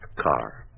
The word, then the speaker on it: Carr: And the name is pronounced Carr.